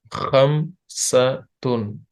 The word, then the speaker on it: خمسة: Khamsatun. KH. Khamsatun. Hmm. So, can you pronounce these five?